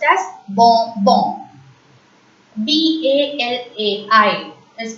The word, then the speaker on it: balai: B-A-L-A-I is pronounced as balai. Repeat. Balai. A as usual in French is pronounced as A. I is pronounced as E. So, balai.